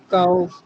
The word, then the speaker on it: gao: फर्ज करें एक लफ्ज यहाँ पे मैं बोलता हूँ GAO, आप प्रोनाउंस करें काओ या काओ, बिल्कुल सही है।